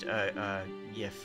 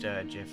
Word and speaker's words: Jif: It's pronounced Jif, it's not pronounced Yif, or GIF, or it's just pronounced Jif, as far as I'm concerned.